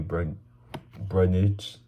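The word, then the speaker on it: Brundage: Moving into the main card, we got Bo Nickal and Cody Brudnich.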